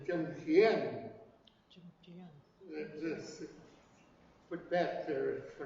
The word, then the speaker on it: Tsimshian: But the correct way to pronounce Tsimshian is Tsimshian.